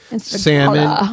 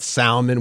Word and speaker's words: salmon: sounds say that way salmon and not salmon we all know that here I guess a lot of the rest of the country maybe says salmon because there's an L in the word yeah but silent letters